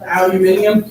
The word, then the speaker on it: aluminium: Aluminium? Aluminium. Alright. Wait, that's how it's. That's how it's pronounced if you're British.